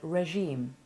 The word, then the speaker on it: regime: you practice those words a different soft g sound is found in the word regime which has been adopted from french and has kept its french pronunciation the mouth shape and